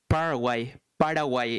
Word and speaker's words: Paraguay: Paraguay in Spanish. Okay, so Paraguay.